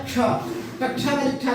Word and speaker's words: क्ष: इसे क मूर्धन्य सकार और का को बोलने से, ये का है, ये है मूर्धन्य सकार। जब इसका उच्चारण हम करेंगे तो ये हो जाएगा क्ष। इसको एक साथ बोलेंगे क और स, कस निकलता है, तो इसका उच्चारण बदल करके हो जाता है क्ष।